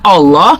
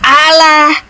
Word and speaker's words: Allah: Udah betul bahasa Arabnya Allah. Lalu kalian ubah Alah. Sebagaimana kau tadi bacanya Inggris one, maka di Indonesia pun akan mengikuti bahasanya one. Diejanya one kan gitu. Ah, kalau bahasa Arabnya aslinya adalah Allah, ngapain kau ubah-ubah Allah?